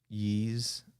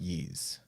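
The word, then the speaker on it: Ys: think on the ps2 i think it's pronounced yeez why us um yeah okay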